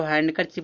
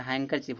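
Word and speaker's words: handkerchief: इसको हैंडकर चिप लोग पढ़ते हैं। हैंडकर चिप नहीं होता। हैंकर चिप होता है। ठीक है? हैंकर चिप। एन के बाद डी क्या रहेगा? साइलेंट रहेगा। हैंकर चिप माने क्या तो रुमाल होता है।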